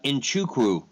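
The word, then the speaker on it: Nzechukwu: I do that yeah and how do you pronounce the name nawacha it's uh inchukwu the true crew all right so this is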